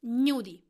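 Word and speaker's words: gnudi: can be useful for you today's word is nudey how to spell it G and you D I knew deep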